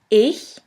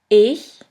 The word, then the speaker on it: ich: In the first case, this letter combination sounds simply like the H in the word huge. Here we have the example of the word ich, which means I.